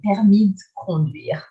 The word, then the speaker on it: permis de conduire: So if you're fast enough, you can say, j'ai passé mon permis de conduire. It's like linking the E of permis with a D, like just adding that letter at the end.